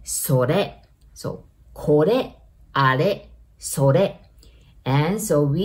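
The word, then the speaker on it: これ: So this, we say kore, kore. Remember R, we pronounce it like L, right?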